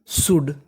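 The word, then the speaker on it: should: है खर्चे एस एच ओ यू एल डी शुड इसे हम लोग क्या पढ़ेंगे शुड देखिए यहां पे हमारा साइलेंट रहता है और ओ का भी उच्चारण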